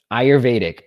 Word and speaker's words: Ayurvedic: word i even have it watch how to pronounce it let me see if you guys can hear this ayurvedic all right ayurvedic medicine that's what this app